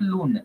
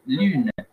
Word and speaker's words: lune: Then we have got U, like the word lune. Lune is the moon, eh? Lune. So we say lune, not loon. Lune.